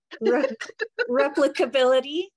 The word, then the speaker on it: replicability: They would also maybe be interested in I can't pronounce this word, Marlena. Replicability.